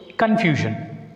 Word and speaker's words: confusion: Whenever a word ends with the suffix ION, it takes stress on the penultimate syllable. So, penultimate means second syllable from the end. Second from the end. So, what is the second syllable from the end? Confusion. SION is the one syllable and FU is the one syllable.